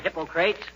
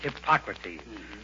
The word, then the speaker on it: Hippocrates: Hi, Hippocrates. If you are referring to the father of medicine, McGee, it's pronounced Hippocrates.